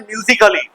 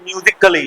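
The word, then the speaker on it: musically: तो म्यूजिकली नहीं है ये म्यूजिक कली है क्या है म्यूजिक म्यूजिक कली म्यूजिक मैं बोल रहा हूं आप कली कैसे बोल दोगे म्यूजिक अली अली भी नहीं है साइलेंट है म्यूजिकली म्यूजिकली म्यूजिकली म्यूजिकली म्यूजिकली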